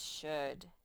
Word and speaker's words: should: this one says should the l is silent in the word should and so is the o for that matter you see it and it's like the o and the l are not even there whoops well you can't